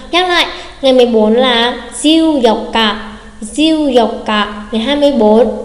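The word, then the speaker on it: 十四日: Cụ thể ngày 14 sẽ không phải là diêu dông Nichi mà sẽ là diêu dọc cả, diêu dọc cả.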